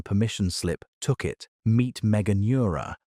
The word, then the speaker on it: Meganeura: Meet Meganeura, pronounced megan-your-a, one of the largest flying insects